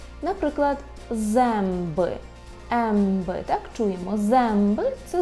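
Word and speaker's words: zęby: І подібно до «о» носового, так у нас було «а» з хвостиком, вимовляється як «м», якщо далі йде буква «б» або «п». Наприклад, «земби», «емби», так чуємо, «земби» – це зуби.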